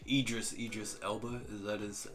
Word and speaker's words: Idris Elba: always use is i don't know like idris idris elba that is how you say his name him